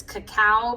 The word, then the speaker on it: cacao: I always say cocoa powder, but it's cacao powder, I guess.